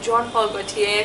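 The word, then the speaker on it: Jean Paul Gaultier: I think that's how we pronounce it, Jean Paul Gautier Classique.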